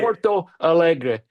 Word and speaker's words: Porto Alegre: You were born in Porto Alegre. Did I say that right? I love your pronunciation, Dr. Noel. That's great. Porto Alegre, Yep.